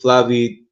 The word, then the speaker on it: Flavie: I forgot to put that slide up, But that was the deal that he had with Flavie. Her name is crazy though. That's how you pronounce her name in English, Flavie the nigger.